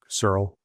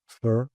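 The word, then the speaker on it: Searle: The last one by Sara. That is how you pronounce Surl Surl.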